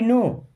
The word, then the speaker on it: know: शुरू करते हैं आई नो what that is I means होता है मैं नो मीस जानता हूं यहां पे के साइलेंट होता है ठीक है आई नो